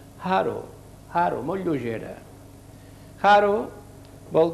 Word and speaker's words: haro: Haro. Havíem vist aquesta lletra, la H, es pronuncia com una J però lleugera, una J aspirada. Haro, haro, molt lleugera.